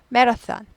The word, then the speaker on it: marathon: school 학교 마라톤 하지 않고 메라ath marath턴 이거 이거 번데기 발음이죠. 메턴 marath턴 marathon marathon marathon marathon 연습하시고요.